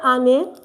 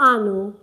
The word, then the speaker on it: année: So we say année. It's not anneau.